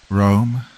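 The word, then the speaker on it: Roem: Rome, that's spelled R-O-E-M, not like the city, have an innovative range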